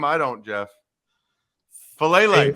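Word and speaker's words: Faalele: to say his last name i don't jeff fellaily fellaini yes then jalen armour davis the cornerback from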